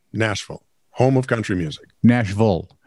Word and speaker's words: Nashville: now remember nashville right nashville home of country music nashville the v-i-l-l-e is pronounced vol national no sense to